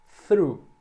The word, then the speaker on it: through: Esse GH aqui não é pronunciado, é só aqui até a vogal. Through. É só o som desse TH mais o R e o U.